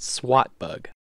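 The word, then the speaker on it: SWTBUG: replaced with swt PCS swt bug pronounced SWAT bug the original Mick bug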